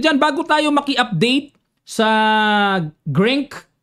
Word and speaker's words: Grenke: Okay at dahil diyan bago tayo maki-update sa Grank yan dati Grenke yun pala silent E pala yon. Ayan salamat po sa mga nag ah tuwid. Grink open freestyle.